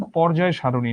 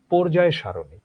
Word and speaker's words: পর্যায় সারণী: একইভাবে তোমরা যে রসায়নে পড় সেটার উচ্চারণ পর্যায় সারণী নয়। সেটার উচ্চারণ পর্যায় সারণী।